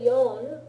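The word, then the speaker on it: よん: For 4, you say yon, because shi and ichi could be easily confused over the phone, right?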